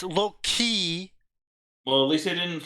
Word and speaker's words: Loki: did you pronounce Loki say it right it's low-key well at least he